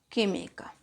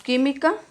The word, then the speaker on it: química: Separamos química, química. ¿Dónde se encuentra el acento? En la tercera. ¿Cuál es la que se tilda o lleva la mayor fuerza de voz? En la tercera sílaba serían las esdrújulas. Última, antepenúltima, perdón, última, penúltima y antepenúltima. Entonces esta es esdrújula.